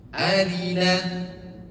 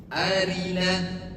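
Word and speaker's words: أرنا: Arina. Arina itu rnya tipis bukan. Bukan arina. Oke, jelas. Arina tipis. Arina arina. Arina manasikana. Arina. Rnya tipis arina.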